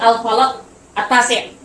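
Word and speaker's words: الفلك التاسع: Sekaligus dia akan memberikan dampak secara mungkin kepada namanya al-falaq at-tasi'. Ini cara bacanya ya.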